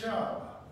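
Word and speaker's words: שׁוּב: Your next word is Hebrew, and it's pronounced shub.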